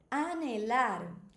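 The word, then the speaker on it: hablar: Anelar. Lembra que no espanhol a letra H ela não tem som, ela é muda.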